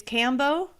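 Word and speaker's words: Kambo: So this is called it's Cambo. Is that how you pronounce it? Yes.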